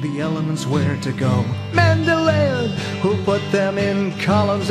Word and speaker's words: Mendeleev: Mendeleev, sometimes pronounced Mendeleev, and a German by the name of Julius Lothar Meyer, independently, meaning they were not working together.